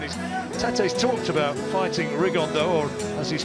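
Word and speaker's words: Rigondeaux: three weeks and his tattoos talked about fighting rigonda or as he's correctly pronounced the Spanish accent rig on down two absent Geniuses but it could also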